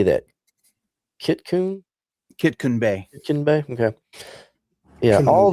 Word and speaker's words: Kitkun Bay: Kitkun Bay.